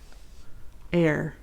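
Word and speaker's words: Éire: wrong but I tried the Gaelic word for IR for Ireland is air spelled e i r e a sign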